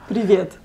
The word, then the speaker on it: Привет: Привет. One more time? Привет. Привет. Привет. Привет. So good. It's the tongue. You gotta roll the tongue.